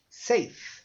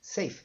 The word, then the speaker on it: safe: boring é muito chato Safe Safe se termina com e você não pronuncia o E então Safe Safe